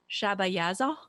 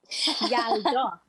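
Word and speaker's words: یلدا: Shabayaza? Yalda. Yada?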